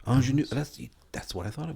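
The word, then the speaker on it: Aunjanue: Do you know how to pronounce this name? Ingenue. Ingenue.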